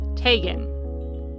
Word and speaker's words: Tegan: And it's pronounced Tegan, not Tegan. It's not Tagan. It is Tegan, like Megan, not vegan.